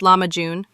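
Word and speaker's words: lahmacun: most commonly refers to lakun, pronounced lamajun, which is a thin round flatbread topped with a flavorful minced meat and vegetable mixture.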